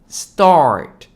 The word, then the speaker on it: start: start start 되는 거고요 한국 발음은 스타트이지만 영어식 발음은 start start AR 발음 좀 넣어 주시면 돼요 스타트 내지는 start start